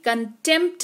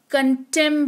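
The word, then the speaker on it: contempt: तो P silent होगा जैसे कि कंटेंप्ट नहीं पढ़ते हैं कंटेम पढ़ते हैं कंटेम का मतलब होता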